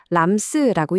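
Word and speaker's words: RAMS: 그 질문에 대한 답이 바로 램스입니다. 람스라고 읽는데요.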